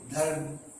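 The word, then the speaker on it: धर्म: இப்படி போட்டால் த இர் இம் தர்ம் என்று உச்சரிக்க வேண்டும்.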